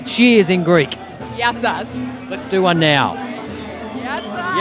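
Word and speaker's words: γεια σας: Yassas.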